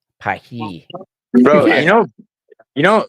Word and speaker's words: Paris: It's not pronounced Paris, it's pronounced Pahi.